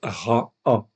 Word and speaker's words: רע: Donc je sais automatiquement que c'est bien en fait ici un ain donc ça se prononce ra a tout simplement 83 fois dans 80 versets.